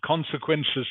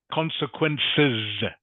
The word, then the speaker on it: consequences: Remember how to pronounce consequences, Ting? Okay. Consequences. Consequences. Good. Yeah, it has an S at the end. Must pronounce the S.